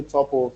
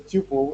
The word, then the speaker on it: tuple: heard somebody in the chat say don't say topple so that we don't tole government so it's Tuple is actually pronounced tle a tle can have more than